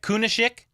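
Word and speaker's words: Kunaszyk: the the starting QB sounds like kunisic that's how you pronounce that Sandman said uh P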